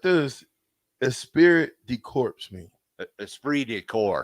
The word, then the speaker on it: esprit de corps: a spirit decorps mean esprit de corps esprit de course y'all saying it wrong it's french i can never pronounce those french words either but i've heard it enough it's esprit de corps what is that means